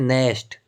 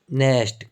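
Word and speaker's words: Knesset: तो वहाँ के सांसद को कहते हैं नेस्ट। क्या कहते हैं? नेस्ट। KNEESSET। तो इसमें के क्या होता है? साइलेंट रहता है, नेस्ट कहा जाता है।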